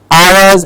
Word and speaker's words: hours: heard clearly guide ours please remember Hou our s and all urs have the same pronunciation hours and hours I have four hours left as was an interesting session hours and hours same pronunciation handset very often use